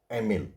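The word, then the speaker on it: Émile: देखिए एमिल, ठीक है, उसका प्रोनाउंसिएशन यही है, एमिल, ठीक है।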